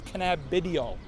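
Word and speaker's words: cannabidiol: which is just canabidol actually it's canabidol that's the pop that's the the real pronounciation enough okay how about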